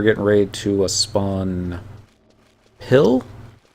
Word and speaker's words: Pil: ready to a spawn pill i don't know if that's how you pronounce it it looks like p-i-l watch square enix so it's pile i'm like oh okay i wouldn't guess that and somebody i only